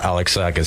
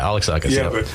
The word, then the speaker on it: Alexakis: good man really good now that you pronounce my name right everybody that doesn't happen very often I'm so happy alexakis Alexus alexakis no yeah alexakis I know this yeah but people people Bucher it but you know what